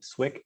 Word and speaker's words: Swick: for a company called swik technologies and i'll spell that because uh it can be misinterpreted so it's ck technologies not swift or stick or switch and my role the